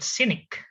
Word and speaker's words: cynic: Bacanya bukan scenic, but cynic. Ya. Kayak orang sinis. Diganti aja S belakangnya jadi C atau K. Cynic.